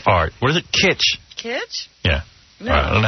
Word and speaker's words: kitsch: lot of my people are illegal it's called keach art what is it kitsch kids yeah i don't know how you pronounce that kitsch that's pee-wee's defense i've heard